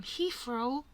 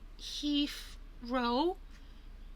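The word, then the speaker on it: Heathrow: Um Hephro. Now my classmates pronounce this that's he.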